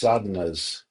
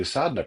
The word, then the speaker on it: sadhana: it means to do sadna practice without a ton of background or preparation. So what is assad? I keep saying this word sadena. It's spelled s a d h a n a.